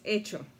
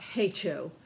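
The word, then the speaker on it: hecho: or done it's not hey cho which someone online uh on youtube how to play video called it hey cho the entire time it's the h is silent it's itching and actually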